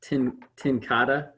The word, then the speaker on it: TenCate: It's pronounced TenCate.